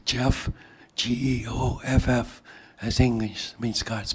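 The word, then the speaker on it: Geoff: Okay, it's Jeff, G-E-O-F-F, as English means God's peace. Okay. It's pronounced, like knee and knife.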